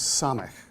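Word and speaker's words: ס: that letter right there that round letter is Sonic and it has an S sound it's not Shin or San it's always s sound like that as in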